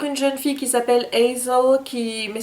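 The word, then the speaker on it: Aysel: On va suivre une jeune fille qui s'appelle Hazel, mais ça s'écrit pas comme Hazel dans Hazel Grace, non, c'est Hazel, ça s'écrit A-Y-S-E-L.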